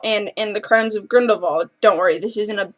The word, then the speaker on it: Grindelwald: also it is pronounced Grindelwald not Grindelwald it is German and my music teacher is German and she speaks German and the W is pronounced as a V so it's Grindelwald not